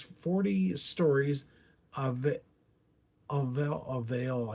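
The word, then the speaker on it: Alluvial: Uh number 18 is 40 stories of it of Avail, I think is how you say it's A L L U V I A L.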